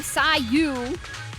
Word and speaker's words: Sayu: But we have Sayu, C-Y-Y-U. Wait, C-Y-Y-U. That's how you spell it, yes.